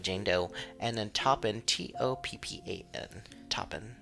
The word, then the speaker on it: Toppan: It's spelled Jane, like usual, like Jane Doe, and then Toppan, Toppan. Toppin. I would say just Toppin. Yeah, I like Toppin. Well, they're like, it's pronounced Oppen, the T is silent.